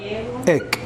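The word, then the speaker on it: ἐκ: Se pronuncia ek y se escribe ex.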